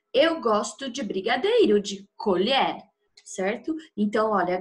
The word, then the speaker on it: colher: está na hora de colher a safra eu gosto de brigadeiro de colher certo Então olha grafia Idêntica na hora de falar não colher e colher certo no caso das